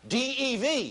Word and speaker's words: Dev: D-E-V. D-E-V.